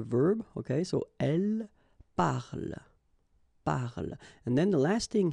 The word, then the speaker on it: parle: So elle parle, parle.